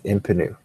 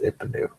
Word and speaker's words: Ipnu: I think it's Impanu. Ipnu. Yeah, it's Ipnu. Cannot pronounce that card.